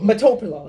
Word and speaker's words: metoprolol: Metoprolol.